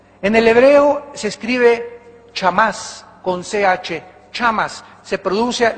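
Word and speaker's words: חמס: Damas y caballeros, amados santos de Dios, esta palabra iniquidad, en el hebreo se escribe chamás con CH, chamas, se produce la CH en el hebreo como J, jamás, y significa violento, significa violento.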